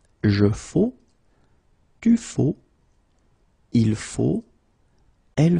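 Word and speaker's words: faux: So one more time, it goes like je faut. Okay, remember. X, but then you don't pronounce it.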